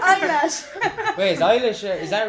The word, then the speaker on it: Eilish: It's pronounced Eilish. That's Eilish. Eilish. I said her. It's eyelash.